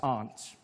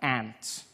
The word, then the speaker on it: aunt: you by for instance I pronounce the opposites of Uncle as aren't I say my arms out here you say my aunt which to me is an insect which made me look